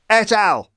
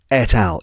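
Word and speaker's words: et al.: So if you hear me say etal, it means I've had to replace myself saying etal with the correct pronunciation which is that's right etal.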